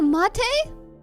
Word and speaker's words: mate: No, the teammate pronounced like latte. Oh, mate.